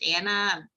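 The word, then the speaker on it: Ana: and I'm like really but you only have one n and then I'm like uh yes I'm not American I don't follow no rules that I have to have two ends to be pronounced Anna I mean I'm 46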